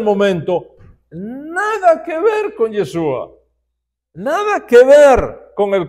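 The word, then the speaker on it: ישוע: voy a explicar como muchos galileos en los diez yeshua no sabían pronunciar correctamente la hay que es la letra precisamente con la que termina el nombre de yeshua termina con alguien Entonces los galileos cuando decían yeshua No pronunciaban la hay en y sonaba como yeso sin la hayen y era normal escuchar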